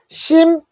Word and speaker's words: simple: 자, 프 소리에다가 리을 받침이니까 풀. 요거는 어떻게 해요? 네, 묵음이에요. 소리가 나지 않는 건데 써줘야 됩니다. 자, 심플 됐죠?